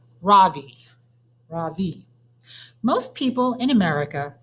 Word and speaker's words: Ravi: my surname my first name is ravi it's pronounced ravi the soft raw and a strong v ravi in sanskrit it means the sun in america people call me ravi with the stress on the first syllable that